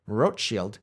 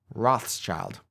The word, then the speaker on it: Rothschild: a house decorated with a red shield or roach shield in German which is how they came to be known by the angelized name Roth's child his father was apparently